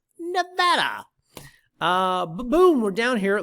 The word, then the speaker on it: Nevada: three new properties in the silver state nevada not nevada as some people frustratingly mispronounce nevada uh boom we're down